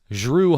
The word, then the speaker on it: Jrue: His name is Drew Holiday. So stop calling him Drew, because it's not Drew. No, there's no D in front. It's just a J. Well, so if it's spelled DREU, you say it like the D is a J.